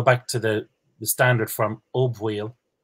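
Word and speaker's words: Ó Baoill: And if we go back to the standard form, O Bhaoil, it's not such a big jump from O Bhaoil to Boyle, I think. And that's my pronunciation, Boyle.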